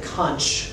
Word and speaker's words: conch: very loud musical note the concept that's pronounced to come from what people say conch because in English it has a CH on it but you